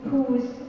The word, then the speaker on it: whose: W is not pronounced in these famous three pronouns, which is who, whose, and whom.